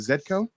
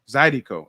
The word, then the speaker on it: Zydeco: We're self-taught, and it was nice for you to educate us earlier on the father of, how do you pronounce it? Is it Zedco? Zydeco. Okay, Zydeco.